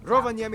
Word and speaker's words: Rovaniemi: can probably guess what lina means by now rovaniemi is otherwise known as the home of santa